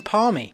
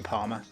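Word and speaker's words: parmy: right it's a chicken paly now don't let anyone tell you that it's a chicken Palmer I don't understand how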